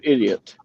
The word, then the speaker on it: Idiout: His last name is is spelled Idiout, and he said, "This is Mister Idiot."